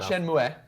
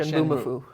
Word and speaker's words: Shenmue: Not Shenmue, but Shenmue.